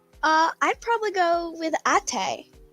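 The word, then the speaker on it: Até: I'd probably go with Ate.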